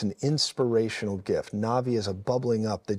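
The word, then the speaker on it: נביא: and it's pronounced like na'vi like the U there's a movie called Avatar the na'vi uh but it's pronounced that way but it's NBI now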